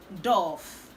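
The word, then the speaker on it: doff: d o f f it is pronounced dove it means to take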